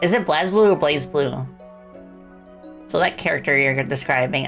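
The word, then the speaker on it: BlazBlue: It is pronounced blaze blue according to the game itself. Okay, Rosie Raid. Yeah. What did you all play in your stream by the way? In the cross tag battle, the announcer pronounces as Blaze Blue. I had a feeling. I had a feeling cuz Blaz sounds um uh it doesn't sound cool.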